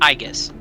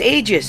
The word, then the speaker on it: Aegis: It's pronounced Aegis. It's Aegis. It's Latin. I don't care. It's gonna be pronounced Aegis.